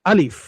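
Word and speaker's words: ا: প্রথম অক্ষরটা দেখুন আলিফ। আলিফটা হচ্ছে যে হলকের শুরু আছে সেখান থেকে উচ্চারণ হয়, এই যে এইখানটা থেকে দেখুন। হুম, এখান থেকে উচ্চারণ হয় আলিফ, দ্রুতই।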